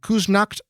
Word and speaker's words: Küsnacht: time, died on Wednesday at our home in Küsnacht, Switzerland, near Zurich.